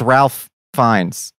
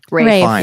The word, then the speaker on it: Ralph Fiennes: There's Liam Neeson and there's Ralph Fiennes. Is that how you say his name? Rafe. Fiennes. Yeah. Rafe? Yeah. It's not Ralph. I think it's spelled Ralph, but it's pronounced Rafe.